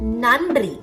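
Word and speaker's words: நன்றி: take the word nandri nandri meaning thank you the first n is normal you make the sound by touching the teeth but while making the second sound nn your tongue should be little back practically speaking many tamil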